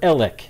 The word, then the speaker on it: Alex: is going to be alex murdoch all the way or elec excuse me e h dash l e k if you were going to phonetically try to say it all right yeah so